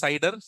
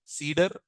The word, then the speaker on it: CIDR: people call it as cider some people like me some people also call it as Cedar some people call it as cidr so whichever it is pronunciation it is same so what what we